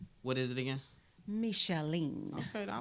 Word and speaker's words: Micheline: It's Micheline. It's not Michelle. What is it again? Micheline.